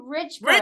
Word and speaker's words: Richburg: Natasha how do you say your last name Richberg Richberg okay I make sure that I was